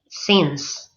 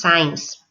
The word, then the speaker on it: since: not least remember that you must pronounce SS with the vowel for E since and never the dong I because every year I hear at least two or three students that pronounce science and that's not correct okay so then take